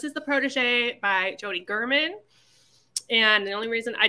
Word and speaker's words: Gehrman: um so this is the Protege by Jody German and the only reason I did finally realize